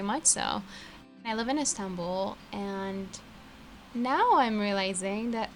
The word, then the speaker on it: Istanbul: okay so yeah right I'm 11 Istanbul Istanbul as they would pronounce in Turkish and yeah I'm Turkish